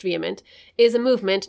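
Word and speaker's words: VHEMT: from the website okay vehement pronounced vehement is a movement not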